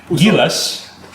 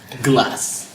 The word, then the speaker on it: Gilas: But speaking of Gilas, or as the foreign announcers pronounce it, Gilas. glass.